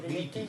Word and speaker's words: Gritti: Sergio Gritti se llama el tipo.